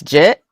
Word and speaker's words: Jit: And I'm just like, actually, it's Jit. Okay. Yeah. People if they say my name wrong. Oh It's It's Jit, not get. Yeah, it's Jit. So, is it is it like legit, right?